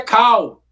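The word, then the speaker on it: Kull: A pronúncia lá na gringa, a pronúncia lá na gringa é Cal, é King Cal. Só que a gente, eu aprendi a ler cu. Eu sempre falei cu desde criança.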